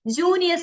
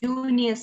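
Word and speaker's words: Junius: get all these four names first is like junior manuscript j-u-n-i-u-s junior manuscript and the second one is like exceeder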